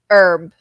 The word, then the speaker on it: herb: A gente fala o H, a gente, na verdade, ele não é pronunciado, tá? Então é hour e herb. Mas o herb tem uma variação que você também pode falar herb. Não está errado.